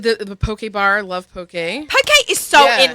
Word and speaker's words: poke: It's pronounced. I don't care how anyone says it in the studio or how they may have said it this morning. It's poke.